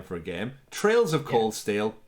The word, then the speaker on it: Trails: name for a game trails of cold steel not so much in my opinion but yes it's spelt t-r-a-i-l-s which is trails not trials my word richie how